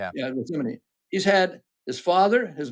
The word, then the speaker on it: Khamenei: remember his name, but I got to always mispronounce it, the son of the original supreme leader. Khamenei. Yeah. Yeah, Khamenei.